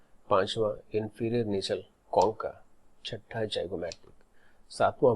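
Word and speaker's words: zygomatic: O को आप गौर करो कि O में जाइगोमैटिक और वोमर को डाला गया है. क्यों? क्योंकि ये दो बोन को जब आप प्रोनाउंस करोगे तो जो स्ट्रेस होता है that is ऑन O, जाइगोमैटिक, vomer.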